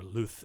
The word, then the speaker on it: luz: same word from like spanish luz right or luth if you want to go castilian so and that's from a